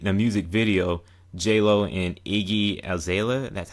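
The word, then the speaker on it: Iggy Azalea: And I heard about that vid, the music video, JLo and Iggy Aela, that's how you pronounce her name, the Australian rap artist called Booty.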